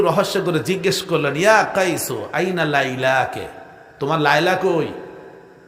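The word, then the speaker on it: قيس: ওই আপনার যেটারে কায়েস বলেন, কায়েস আরবি উচ্চারণ হলো কাইস।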